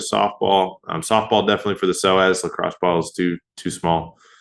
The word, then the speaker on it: psoas: The big third one is the psoas. Okay, so when you search this, it's spelled differently than how it sounds. It's PSOAS. So PSOAS is psoas.